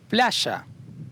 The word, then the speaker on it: playa: Playa, beach.